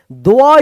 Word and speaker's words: द्व: द्वअ इसको पढ़ते हैं। द्व द्व द्व देखिए तो आधा द व पूरा उच्चारण हो रहा है ना द्व।